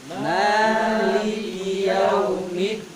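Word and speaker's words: مَالِكِ يَوْمِ الدِّينِ: Jadi pengucapan huruf da dan juga syiddah ya, ajid, batin, bakat, a, ja, da. Jadi syiddah dia. Maliki Yaumiddin. Bukan kayak tak itu hamas. Ada ininya apa namanya? Gitu. Jadi kalau nanti bacanya Maliki Yaumiddin ada gitu, takutnya kebawa ke sifatnya ta ini. Karena makhrajnya sama, tak sama da. Jadi cara pengucapannya itu ditarik ke belakang sedikit.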